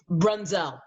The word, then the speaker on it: Brunzell: I mean, and actually so Jim Brunzell, I never say Jim's last name right, artistic director, he said that Brunzell is how you say it.